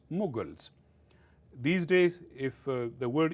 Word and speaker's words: Mughal: get the word muls but in English is pronounced mugal these days if the word is m o